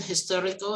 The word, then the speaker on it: historical: uh the age in historical is pronounced as h right so it is history right with the the h is not silent anymore so the uh article